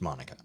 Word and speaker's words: Mounica: It's spelled like Monica, but it's pronounced Monica.